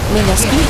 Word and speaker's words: Mineski: Mineski, excuse me. I know how to pronounce it. I always don't pronounce it correctly because I learned it wrong the first way.